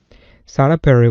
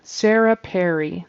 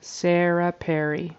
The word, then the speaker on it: Sarah Perry: a story for you sah Perry was a Veterinary nurse Sarah Sarah Perry per the first syllables of those two words should rhyme Sarah Perry is how you pronounce